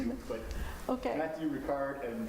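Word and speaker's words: Matthieu Ricard: Matthew Ricard and Trin Huan Huang.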